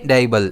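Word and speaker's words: dabble: इसे हम प्रोनाउंस करेंगे डेबल। इसमें स्ट्रेस डी पर रहेगा।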